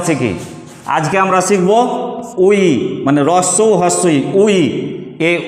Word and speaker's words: 의: আজকে আমরা 1 মিনিটে কোরিয়ান বানানের উচ্চারণ শিখি। আজকে আমরা শিখব উই, মানে রস্যৌ হস্যই উই।